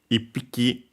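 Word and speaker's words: 一匹: With some numbers, it's the accent is on the key itself of hiki. Other times it's before hiki itself. And yes, so it goes ipiki.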